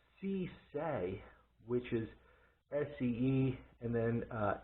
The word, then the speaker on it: See Sa: site it's actually pronounced c say which is s-c-e and then s-a that's actually how they pronounce it in english um and they make